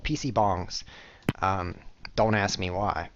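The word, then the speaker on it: 방: They were called PC bongs. Don't ask me why. It's B-A-N-G. It's spelled like bang, but they pronounce it bong because they don't have that weird A sound in Korean.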